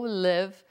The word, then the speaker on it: live: A pronúncia é com I forte.